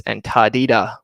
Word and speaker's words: Antártida: So if you're Argentinian or speak Spanish or Portuguese, it's Antártida with a D. So it's my personal favorite thing now to call it Antártida because that's how it would be pronounced if you're in Argentina.